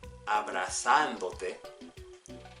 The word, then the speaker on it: abrazándote: If you said abrazándote, and it goes over that ándote, the A there, then you're correct.